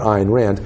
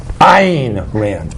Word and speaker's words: Ayn Rand: my name is not iron rand my name is ein ranch because it's important that